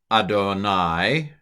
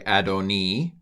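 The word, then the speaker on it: אֲדֹנִי: can pronounce this Hebrew here's how I would pronounce it vom Mah Kain B A NAA Adonai I'm sorry adoni key okay what do you recognize Adonai it's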